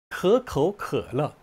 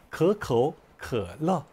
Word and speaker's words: 可口可乐: 可口可乐, 설근음으로 발음해야 되고요. 성조가 可 도 삼성, 口 도 삼성. 성조가 변하죠. 可口可乐. 예, 이런 식으로 발음하면 됩니다.